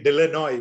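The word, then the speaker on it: De Lannoy: I discovered there is a French pronunciation and a Flemish pronunciation. Okay. And we in Kerala say Dillinoy, which is the Flemish.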